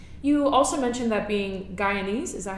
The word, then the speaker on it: Guyanese: You also mentioned that being Guyanese, is that how you pronounce it?